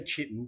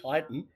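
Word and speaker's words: chitin: People say chitten, but it's pronounced kiton, but it's it's written down as chitten.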